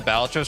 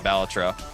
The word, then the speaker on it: Balatro: But I think I will stream more Balatro. Rare person who says Balatro correctly? Wait, how do most people say Balatro? Balatro versus Balatro.